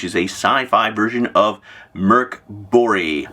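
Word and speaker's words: Mörk Borg: a Sci-Fi version of Merc bori my Swedish friends have it for me that is the correct way to pronounce it Merc bori a couple of things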